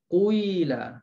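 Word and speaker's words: قِيلَ: Jadi bacanya qila quila, ya.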